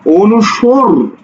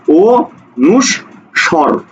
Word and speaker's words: অনুস্বর: স্বর স্বর স্বর স্বর তুমি স্বর বলছো না অনুসর না অনুসর না কি বলছো অরি অনুস স্বর ঠিক আছে তুমি এভাবে